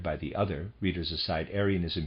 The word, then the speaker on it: Arianism: the other readers aside arianism here i'm going to pronounce it that way is spelled though a-r-i-a-n-i-s-m uh referring to aries the end of readers